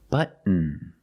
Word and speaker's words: button: Button. Button. Not button, it's button. Stop T and fall to the N.